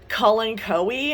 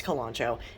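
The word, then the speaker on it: Kalanchoe: is some sort of calancho kalancho um i've also oh god so this word i've also heard you're supposed to pronounce it like colin coey and i'm like yeah no it's kolancho anyway this guy is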